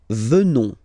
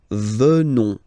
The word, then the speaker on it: venons: Nous venons. Okay? O-N-S, classical ending for nous, okay? Final S not pronounced, so O-N, on, venons, venons.